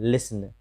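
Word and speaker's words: listen: टी सी एच रहे, ऐसी स्थिति में टी का उच्चारण नहीं होता है, जैसे कैच, लास्ट में टी सी एच है। लिसन, टी एन है, लिसन यानी सुनना, कैच यानी पकड़ना।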